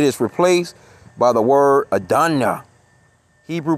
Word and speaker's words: Adonai: In prayers, it is replaced by the word Adonai. Hebrew pronunciation Adonai.